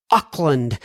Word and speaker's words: Auckland: I don't remember how I pronounced it, but hopefully it is Auckland.